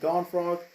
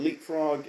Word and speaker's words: Leapfrog: You know, I think they call him Godfrog. It's actually Leapfrog, and anyway, so anyway, he kind of cheated, trying to cheat the court case.